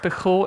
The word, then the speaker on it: Pijul: Okay, the second version control system is called Pijul, and before I start to talk about it, we have to talk about the name because it's hard to pronounce. It's a Spanish word, Pijul, and it is a